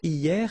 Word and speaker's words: hier: Hier means yesterday, okay? Hier. So remember, this H here is not pronounced, okay? So hier.